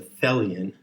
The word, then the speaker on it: Thelion: says fellian t-h-e-l-i-o-n and it rhymes with helian and it must be